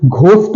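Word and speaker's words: ghost: आर आ जाएगा तो फिर डिफरेंशिएबल मैं आपको घोस्ट वाला बता देता हूं घोस्ट बताया ही गया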